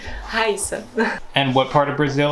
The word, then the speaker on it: Rayssa: So did I pronounce it right? Rayssa.